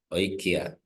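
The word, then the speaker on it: οἰκία: Okay, so I have omicron and iota that forms a diphthong. Remember, that's close to oil. So this is the Greek word for house, which is oikia. So I pronounce that diphthong as a single letter.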